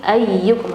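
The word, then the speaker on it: أَيُّكُمْ: Jadi tadi ayyukum kepanjangan, tapi ayyukum harusnya bacanya ayyukum karena ada tasydid ya. Jadi bacanya ayyukum.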